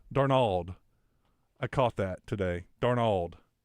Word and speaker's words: Darnold: People say, he says Darnold. Darnold. I caught that today. Darnold. Like he's Spanish, putting the emphasis on Nald.